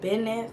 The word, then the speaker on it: Binf: Binf.